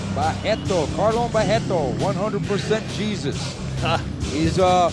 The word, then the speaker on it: Barreto: And the R's in Brazil you pronounce as H, so you will say Barreto. Barreto.